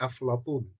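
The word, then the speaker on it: أفلاطون: Orang Arab nyebutnya aflatun, orang Barat nyebutnya Plato.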